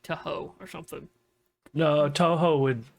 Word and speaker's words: Toho: a good working relationship with the people at Toho. Let me see. I hope I'm saying that right. I don't ever watch Godzilla media much, so I don't know if they say it like Toho or something.